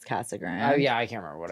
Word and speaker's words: Casa Grande: it like that then what wouldn't two CAG Grand people know that it's Cass Grand yeah I can't remember